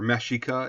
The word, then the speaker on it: Mexica: the pueblo in people uh the mexican or mashika excuse me now i know we say it